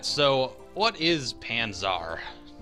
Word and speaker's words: Panzar: right so what is panzar i feel like i really have to stress the second a and not call it panzers i really want to